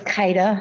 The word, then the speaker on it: Kaida: It's Kaida. It's spelled Kyda.